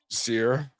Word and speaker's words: Ciara: Ciara?